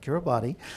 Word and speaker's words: Kiribati: That's the former president of the Republic of, hope I pronounce this correctly too, Kiribati, not Kiribati, for a keynote address, a moderated conversation to